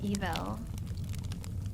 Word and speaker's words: Evel: It's evil. It is. Holy shit. I never knew that. Daredevil Knievel. It's evil Knievel, like E-V-E-L. Yeah, his name has always been. That's wild. Not E-V-I-L.